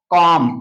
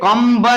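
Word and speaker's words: comb: इसको पढ़ेंगे हम कॉम। क्या पढ़ेंगे? कॉम। ये कम ब नहीं पढ़ा जाता है, कम कंगी कम ब नहीं पढ़ा जाता है।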